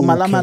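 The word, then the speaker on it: Mhalamhala: Yeah, in Tsonga, the H is silent.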